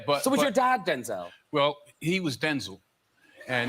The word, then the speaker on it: Denzel: I was calling you Denzel. Is that correct? Actually, it's Denzel. Oh, no, is it really? Yeah, but... So was your dad Denzel?